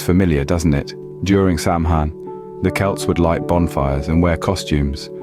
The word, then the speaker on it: Samhain: Samhain, pronounced Samhain, marked the end of the harvest season and the beginning of winter, a time of year often associated with death.